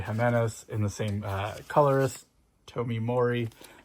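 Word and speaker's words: Tomeu Morey: and the same colorist, Tomi Mori. That's how you say his name.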